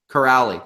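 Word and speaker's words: Kuraly: How do you actually properly pronounce the guy that scored the game-winning goal? Corrali. Curley? Corrali. Curley? Sean Corrali? Corrali.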